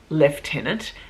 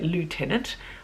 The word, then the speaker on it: lieutenant: when I was a leftenant in the Australian Navy we say leftenant we don't say Lieutenant I think in the America the Americans say Lou and I mean in French